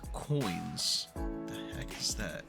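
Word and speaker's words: quoins: Now, there's something on here called coins. What the heck is that? But it's not spelled coins, C-O-I-N-S. It's Q-O-I-N-S.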